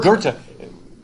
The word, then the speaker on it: Goethe: and I said, does anybody know how to pronounce his name? And she said, Goethe.